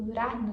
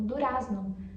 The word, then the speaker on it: durazno: O Durarna escreve com Z e acaba pronunciando aparecendo um R. E é um dos problemas maiores que eu vejo brasileiros tentando aprender o espanhol argentino, é que eles aprendem a gramática primeiro e aí eles acham que o argentino vai pronunciar essa palavra como durazno.